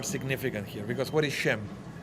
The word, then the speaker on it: Shem: How do you say Shem in Hebrew, in English? What is the name? Shem. It's Sem. That's why we are Semites. Okay? Because we are descendants of Shem, Semites.